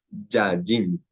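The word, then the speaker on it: יין: Entonces, ¿cómo pronunciaría una persona normalmente? Yallín, Yallín, ¿cierto? Pero realmente será Yallín, ¿cierto? Yayin.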